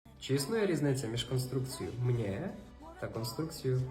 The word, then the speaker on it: mně: існує різниця між конструкцією мне Та конструкцією мне Як ви вже зрозуміли у вимові такої різниці не існує Але існує на письмі